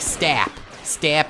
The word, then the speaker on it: STAP: It's like stap speeder. Like, because it's S-T-A-P, but it's so much easier to just say stop speeder, you know?